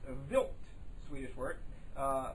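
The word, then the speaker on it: Wild: Swedish word it's spelled while wilb but it's pronounced vilt Swedish word uh pronounced built 2 after the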